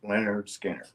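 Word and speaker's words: Lynyrd Skynyrd: cover he was looking at it Leonard Skinner pronounced Leonard Skinner okay so uh during the song you know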